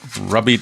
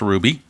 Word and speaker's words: Rubby: top of the second rubbie uh ruby de la rosa rather it's spelled like rubby but it's pronounced ruby he'll be facing big